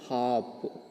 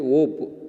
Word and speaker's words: hop: I can hop. I can hop. Hop means what? H-O-P, hop. Some of you are pronouncing this one as a whoop. H-O-P, whoop. Whoop, not that is. That is H-O-P, hop.